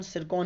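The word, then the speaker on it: Zircon: से लगभग 10 नई जिरकॉन मिसाइल है, यानी कि सिरकॉन मिसाइल भी बोल सकते हो, क्योंकि इंग्लिश में इसका प्रोनाउंसिएशन सिरकॉन ही है, बट ये जिरकॉन मिसाइलों का परीक्षण किया दोस्तों।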